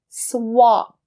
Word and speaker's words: swap: Swap. Swap. I remember when I first came here to Canada and my friend was using that word with me and I couldn't understand because I usually said it as swap.